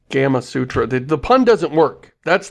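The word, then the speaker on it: Gamasutra: it's on Gamma Sutra, which I feel strongly we should be pronouncing it Gamma Sutra, since, you know, the beginning of that is from video game, but everybody calls it Gamma Sutra, which makes it sound like it has to do with gamma radiation.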